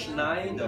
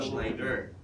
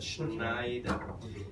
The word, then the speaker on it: Schneider: But the way Germans say it is a Schneider. It's an SCH. Take note in the German language, if you have an SCH, it's pronounced as a sh, just like she, right?